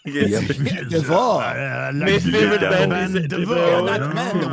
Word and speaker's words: Devo: He mispronounced the favorite band of the person who made Mixtape in his review of Mixtape, saying how good it was. DeVoe makes it sound fucking like French or some shit.